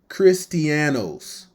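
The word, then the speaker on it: Χριστιανός: Okay, the word Christian, G5546, pronounced Christianos, meaning follower of Christ.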